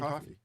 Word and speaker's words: Coffey: Like the drink, only not spelled the same way. Oh, John Coffey.